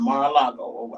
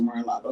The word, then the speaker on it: Mar-a-Lago: After the raid on Donald's home in Mar-a-Lago, I think that's how you pronounce it, Mar-a-Lago, in Florida, right?